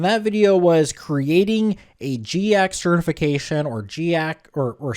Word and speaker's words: GIAC: And that video was creating a GKX certification or GC or or SANS index.